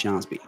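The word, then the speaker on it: Skjonsby: That's somehow pronounced Jsby.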